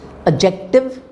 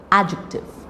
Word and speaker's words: adjective: is subtle subtle then du is always silent in the sequence DJ like adjective so you don't say adjective adjective adjacent a judge so